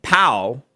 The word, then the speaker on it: Pao: This is a woman, Ellen Pao, I guess that's how to pronounce it, P-A-O, who is suing Kleiner Perkins.